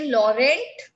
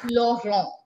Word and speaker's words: Laurent: n t law wrong like in english we say laurent isn't it in french it is law wrong long wrong eve song